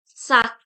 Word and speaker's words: sac: So we pronounced it sak. Here we will pronounce the last letter.